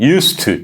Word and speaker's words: used to: used가 used가 그 저도 이제 단독으로 발음하니까 그런데 한꺼번에 발음하면 used to used used used to 이렇게 발음해야 되거든요.